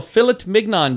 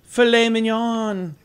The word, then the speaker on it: filet mignon: saturday is your day national philip mignon day oh i'm sorry filet mignon you ever heard somebody pronounce it philip only you oh really